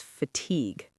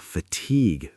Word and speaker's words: fatigue: Fatigue. Fatigue. The stress is on the second syllable.